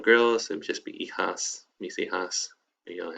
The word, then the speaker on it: hijas: And then if you only have girls, it would just be hijas, mis hijas. If you only have boys, or boys and girls, mi hijos, mis hijos. Okay. Cool. So remember the H is silent.